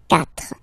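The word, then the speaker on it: quatre: you start with, well, if you get this combination Q, U, A, well, you will pronounce it K, K, same thing for the other vowels, okay, so because that's the rule, after Q, normally we put U, and then another vowel, but then this U, well, basically, it's not pronounced, okay?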